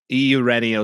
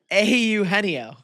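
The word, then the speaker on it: Eugenio: Au Heno. Close. Anyway, go on. Au Nio. I I saw his name pronounced in the broadcast the other night. I'm like, "Oh, yeah. There's no G in there."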